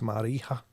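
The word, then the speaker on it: Marija: r i j a i think the J in that version is like a y or H maybe it's Mara norus who lost her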